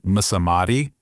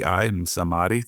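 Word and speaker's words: Msamati: good it's Lucian and I'm probably gonna butcher his last name mamati MS m a TI samadi that's how I would pronounce it he was really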